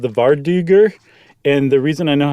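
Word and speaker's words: vardøger: It um, it's called the Varduger. And the reason I know how to pronounce it is because I looked up what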